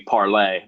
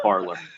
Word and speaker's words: Parler: It's actually supposed to be parlay, but we're stupid Americans, so we go phonetically and call it Parler.